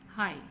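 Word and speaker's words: high: हाई, हाई में जी silent है।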